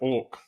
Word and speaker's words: AWK: for awk okay but you pronounce it orc like the bird um it's a domain-specific